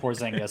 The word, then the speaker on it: Porzingis: you're flipping porzingis off you said it right when you said poor zynga so we'll go with